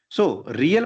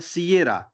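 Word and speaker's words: Sierra: लिखा जाता है क्यूबेक एस एस को कई लोग सीरा पढ़ते हैं लेकिन उसको पढ़ा जाता है सिएरा ठीक है वाय वाई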